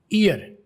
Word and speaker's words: ear: में आप देखते होंगे आर को गोरे पूरा या फुली प्रोनाउंस नहीं करते, दरम्यान में कहीं गुम हो जाता है, जम हो जाता है। तो ईयर की बजाय ईया।